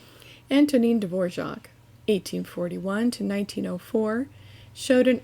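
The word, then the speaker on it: Dvořák: one may state that the composer's name should be accented on the first syllable antonine dvorac 1841 to 1904 showed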